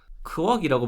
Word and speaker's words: KWOK: 보시면 될 것 같습니다 코웍은 크억이라고 발음해야 되는데 발음이 잘 안되더라구요이 크업